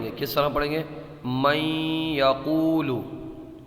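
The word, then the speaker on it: من يقول: من یقول۔ اس میں غنہ ہوگا، غنے کی مقدار 1 الف کے برابر ہوتی ہے۔ من یقول۔ ہجے بھی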